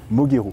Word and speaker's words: Moguero: Il est rare qu'on le prononce bien. Moguero.